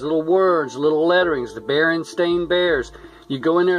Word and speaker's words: Berenstain: I remember that because I said Berenstain, and my dad, he said, well, it's spelled like Berenstain. My dad's passed away now a long time. But Berenstain, and he said, it should like Frankenstein. And I said, no, it's Berenstain.